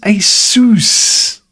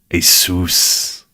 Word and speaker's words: Asus: The fuck is Asus? Asus. Asus. It's like Asus rhymes with masseuse. No.